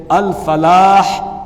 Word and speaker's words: الفلاح: الف لگا دیتے ہیں۔ اسی طریقے سے الفلاح، اس میں فا کو پھا پڑھ دیتے ہیں، تو اس کا تلفظ بھی درست کرنے کی کوشش کرنی چاہیے۔ صحیح تلفظ یہ ہے حی علی الفلاح حی علی الفلاح۔ اذان